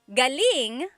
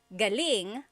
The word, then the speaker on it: galing: So, galing the emphasis is on the first syllable that means coming from. David Jr. on Instagram just asked the same question, too. Galing means good or great. So if the emphasis is on the second syllable, galing that means good or great or excellent.